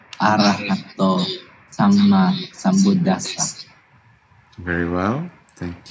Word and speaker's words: Arahato: The vowel at the end of Namo and then Bhagavato and Arahato is actually long, and it needs to be clear from your pronunciation. Namo tassa Bhagavato Arahato Samma Sambuddhassa.